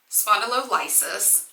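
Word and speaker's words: spondylolysis: what was noted on the C skan was spondo liis finally figured out how to say it facet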